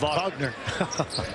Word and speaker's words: Wagner: Watson, Walton, Wilson, and Wagner. Although it's pronounced Wagner.